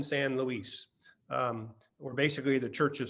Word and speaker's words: San Luis: wonderful educational website uh it's spelled like louis so it's mission san luis or basically the church